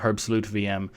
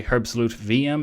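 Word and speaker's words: herbstluftwm: the way I say herb solute VM and not WM because it's a german word or a german project and the name is german so the pronunciation is vm and they asked me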